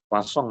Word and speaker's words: Poisson: Poisson bacanya ya, jangan Poisson.